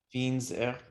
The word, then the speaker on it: fines herbes: Fines herbes, yeah, ouais, liaison. Yeah, De fines herbes. that's true, there is H. Il y a H, mais on fait la liaison celui-là. C'est pas un H muet. C'est voilà.